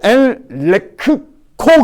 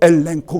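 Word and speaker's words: ἐλέγχω: 그래서 엘레크코 그래야 되는데 그러지 않고 엘렌코 그래. 그래서 엘렌코. 하나는 이응자 발음 나는 거예요.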